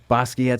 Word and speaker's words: Basquiat: Like, I get a little bit in that Basquiat stuff. That's how you say his name.